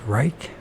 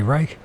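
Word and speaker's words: Reiche: than careful scientists uh Dr Rich or Reich depending how you PR pronounce it uh I would say Reich uh had produced all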